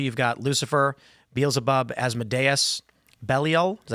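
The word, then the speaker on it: Belial: And in Christian and Jewish demonology, you've got Lucifer, Beabub, Asmodes, Belelliel. Is that how you pronounce that? Balile.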